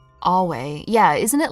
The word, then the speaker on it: Ave: Ave is pronounced Awe.